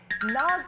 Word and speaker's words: knock: K-N-O-C-K인데 처음 K가 무음이죠.